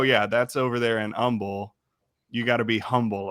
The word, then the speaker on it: Humble: i find H isent the H is silent okay so if somebody is not bragging they're being humble yeah yeah really okay I I flip I'm like oh yeah that's over there in Umble you got to be